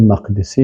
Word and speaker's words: مقدسی: محمد بن قدامه جمایل مقدسی هست مقدسی نگویین مقدس از بیتالمقدس بیتالمقدس است اهل علم بیتالمقدس تلفظ میکنن و کسایی که مثلاً مقدس میگن باز ا نمیفهمن همی اصل کلمه پس ای مقدسی هست